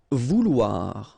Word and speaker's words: vouloir: Vouloir, okay, OU, OU, and then OI, OA, so vouloir, okay.